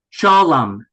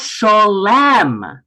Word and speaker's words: shalom: shalom. Shalom. It's not shalem. It's shalom. Shalom. And if we do the same thing with aleichem, we get aleichem. Shalom aleichem.